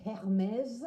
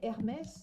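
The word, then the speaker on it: Hermès: So we don't say Hermes. No, we don't. We say Hermes Louis Vuitton Christian Chanel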